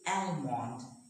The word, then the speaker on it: almond: We don't say almond, we say almond, salmon.